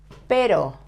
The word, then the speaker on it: pero: Pero, the same. It ends in vowel, so we have to stress the penultimate syllable.